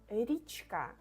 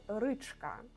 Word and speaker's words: річка: But Ukrainian E will softness a little bit the previous letter. So it needs to be ri, річка, not ричка.